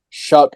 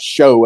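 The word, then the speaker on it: Shough: You have another Oregon transfer, Tyler Shuck, I'm going to believe is how I've heard that name pronounced, not Show as it looks. I think I've heard it pronounced Shuck, which makes no sense.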